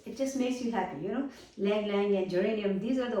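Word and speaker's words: Ylang Ylang: a few drops of Lang Lang, which starts with Y, but Y is silent, so it's Lang Lang oil, essential oil.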